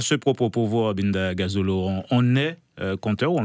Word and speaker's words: Ngazolo: Binda Gazolo, on dit bien Gazolo. Hein. Mais pourtant, c'est simple, c'est 2 syllabes. Binda et 3 syllabes, Gazolo.